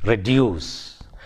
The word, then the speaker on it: reduce: In the same way, in words like reduce, it has two syllables and the second syllable is stressed, reduce.